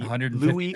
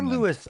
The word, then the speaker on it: Louis: The attendance was 15015 at the Louis or Lewis Armstrong Stadium. Both pronunciations are acceptable, though the man preferred Lewis.